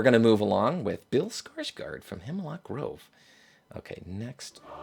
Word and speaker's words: Skarsgård: to say bill skarsgård I think it's bill skarsgård it sounds right to me that sounds like that's the correct pronunciation here we go Hey skarsgård skarsgård well so it's not it's not bill but it's close enough it's Alexander so skarsgård okay that's correct okay good enough